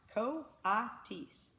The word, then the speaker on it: coatis: Brisbane said reading from the letter pronounced co-op teased the coatis looked weird miss Mac looked gorgeous